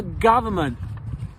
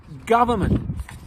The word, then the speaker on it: government: So, what they did was if a u was followed by an n, an m, a v, or a th, they changed the u to an o just to make it easier to read.